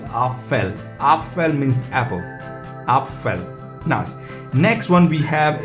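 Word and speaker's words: Apfel: get started and first one is a is pronounced as a and the word we use it is our fell after means apple up fell nice next one we have it's this one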